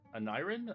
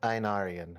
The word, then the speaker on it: Einarian: I know I'm not supposed to pronounce the E, but Anirin? I don't even know how to say it, honestly. I'm gonna be butchering everybody's name. It's just Einarian.